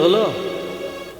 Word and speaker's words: হুলু: হলুদনি হলো, এসে হালকা বোঝা যায় না। আচ্ছা, মায়েরা মুখে করে যে শব্দটা করলেন, এটাকে কি বলে? উলু নয়, বইয়েতে লেখা আছে হুলু, উচ্চারণটা হবে হুলু।